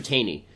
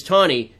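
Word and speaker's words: Taney: there is a judge and Justice named Roger tany ton is how it's pronounced actually and justice justice Tony who's the same guy who wrote The Dread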